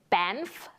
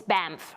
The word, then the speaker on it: Banff: I think the one that comes to mind is me pronouncing it Banff at first, but it's it's Banff, right?